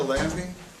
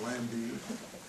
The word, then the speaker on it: Lambie: This is Lambie, and it's spelled like it sounds. It's not Lamb, it's Lambie.